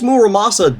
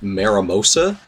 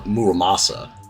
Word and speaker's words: Muramasa: I made sure to really sound out how the sword is pronounced in my script because for the longest time I pronounced it Maramosa, and I wasn't corrected until like, I don't know, 6 or 7 years later.